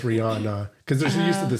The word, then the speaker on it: Rihanna: the singer the thing but I think even supposed to be Ranna Ianna she says Rihanna yeah cuz she's like from Barbados I think she pronounces it right who actually knows her